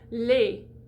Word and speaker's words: les: for a second so l-e-s lei i do close that lei de mei so we're